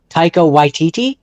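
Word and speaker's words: Taika Waititi: I'm I'm just trying to think like if I was to let Tao White I can't pronounce his name. Tao Yiti.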